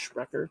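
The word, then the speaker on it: Sprecher: Tap Room Snacks by shreer it's pronounced shreer in the original German uh they're my favorite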